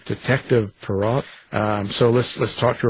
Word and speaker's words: Parrott: But I pronounce his name Parrott.